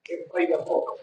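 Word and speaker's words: παιδαγωγός: ¿Cómo se pronuncia, pastor? Paidagogo.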